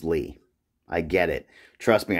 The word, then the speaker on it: Lie: And before I do that, I want to say, I know this is pronounced Lee.